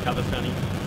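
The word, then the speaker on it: Cavestany: My last name is spelled Cavastani, or pronounced Cavastani, spelled C-A-V-E-S-T-A-N-Y.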